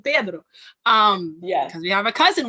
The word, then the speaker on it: Pedro: And I don't want to say it like a Brazilian because it's not also correct either. But it's really hard to not say Pedro and say Pedro. It's really hard because I have grown up saying Pedro.